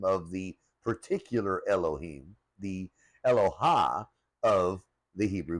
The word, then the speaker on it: Elohim: Yahweh, which is the name of the particular Elohim, the Elohah of the Hebrew people. So let's break that down. Now originally when we look through these original texts, the words used for God or gods were Elohim.